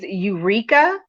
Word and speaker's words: Ureeka: And then the third one is Eureka, and that's spelled Ureeka.